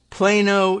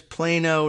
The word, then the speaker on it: Plano: that we knew about the pronunciation of plano texas yes it is plano not plano as uh you might read it in in pigeon spanish but okay and a